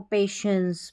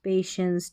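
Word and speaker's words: patience: पेटेंस नहीं पढ़ना है इसको पेशेंस पेशेंस टी आई जो है ना इसको श पढ़ रहे हैं और ई एन सी ई ये एंस करके पढ़ा जाता है एंस तो पूरी स्पेलिंग पेशेंस पेशेंस का मतलब धैर्य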